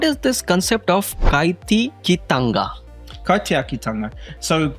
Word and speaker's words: kaitiakitanga: Kaitiakitanga. So how we pronounce it?